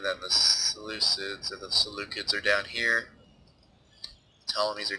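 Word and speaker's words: Seleucids: I'm going to try to call them by their proper pronunciation. I believe it's the salucids, but I'll probably slip back into the solicits at some point because that's how I usually pronounce it when I am not thinking about it.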